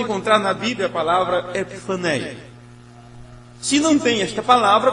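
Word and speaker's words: ἐπιφάνεια: na Bíblia a palavra epifaneia? Se não tem esta palavra, você não procura o significado. Seria, já que o irmão Paulo está anotando, E-P-I-F-H-A-N-A-E-A. A pronúncia é mais ou menos isso, epifaneia. Quando isso está no original,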